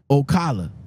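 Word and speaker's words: Ocala: rage accident Jesus Christ we're heading down to Okala Florida am I pronouncing that right because you're from Florida Okala right yeah all right it's yeah o Okala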